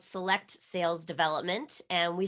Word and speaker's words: SELLect: us about your company my company is called select sales development and we spell it s-e-l-l-e-c-t but we really want people to